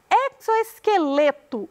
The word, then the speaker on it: exoesqueleto: Exoesqueleto. O lê é a sílaba tônica.